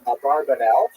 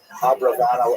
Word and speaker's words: Abravanel: It was a rock version of Abarbanel, but it's most likely pronounced Abravanel or Abravanel. So we'll stick with the scholarly norm, although you know who I am talking about.